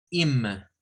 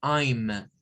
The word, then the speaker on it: I'm: contracción tengamos cuidado porque a veces tendemos a pronunciar la contracción mal y tendemos a decir algo como Inma No no es in tampoco es ayma no es no es no es ayna es ayma ayma o sea hacer a